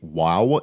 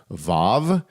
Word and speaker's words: vav: to English today um it is believed by many scholars that the VAV used to be pronounced with a W sound so it would be WoW instead of VAV whereas